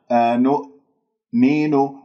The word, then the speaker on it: أنؤمن: الشفاه مضمومة وهذا خطأ، لا تقلقل الهمزة، أنؤمن خطأ، لا تجعل همزتين، أنؤمن، لابد من قفل الأوتار الصوتية في الهمزة قفلا محكما حتى أنا لا تقلقل معي ولا تطلع عندي همزتين، أنؤمن، تدربوا عليها هكذا مثل ما أنا أقول الآن، أنؤمن، أنؤمن، أنؤمن، كما مين،